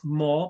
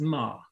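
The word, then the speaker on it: מה: the first uh accent it is not pronounced as more but as ma usually the hey doesn't really close the syllable i understand so it's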